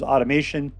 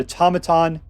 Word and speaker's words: Automaton: I always thought this was automation, but Automaton is how it's pronounced.